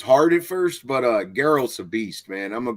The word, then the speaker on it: Geralt: let me all right so i hope i pronounced his name right um jared is it gerald geralt yeah daryl geralt from the witcher and we're